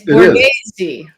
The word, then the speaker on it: Borghese: It's Borghese. Borghese. You gotta throw the Italian in.